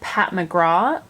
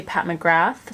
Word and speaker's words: McGrath: I do know that some people pronounce it Pat McGraw and other people say Pat McGrath so let me know